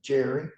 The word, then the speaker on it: Gerry: It came into being in the first part of the 19th century when the governor in Massachusetts named Governor Gary, G-E-R-R-Y, sometimes pronounced Jerry, was in power.